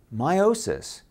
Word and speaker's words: meiosis: Now, meiosis, notice that slight missing T? It's spelled M-E-I-O-S-I-S. So I slightly emphasize the E because meiosis can be